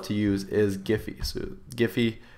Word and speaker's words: Giphy: So Gify, spelled like this here, G-I-P-H-Y.